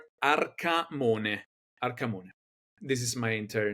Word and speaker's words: Arcamone: Arcamone. This is my entire name. Listen to that Italian pronunciation.